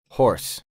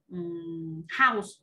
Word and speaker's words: horse: Horse. Thật sự luôn. H O R S E. Horse. Horse. Cũng là để nhắc lại một chút nha, thường thường các bạn sẽ phát âm từ này là house.